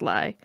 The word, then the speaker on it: Ely: E-L-Y. Just pronounced Ly, for Carlos' sake.